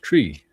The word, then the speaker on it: Try: The last name pronounced Tree.